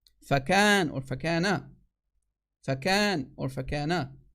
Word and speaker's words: فكان: فكان, not فيكون. فكان, that's the correct way to say it in the Arabic, not fayakun.